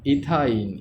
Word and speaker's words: ইথাইন: তাই এটার নাম কি ইথাইন ইথা আইন উচ্চারণ হইছে।